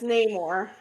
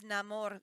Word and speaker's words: Namor: idiotic it's too it sounds stupid so it's Neymar yeah his name is Neymar and they were trying to reponounce that as Namor to make it sound I think more Latino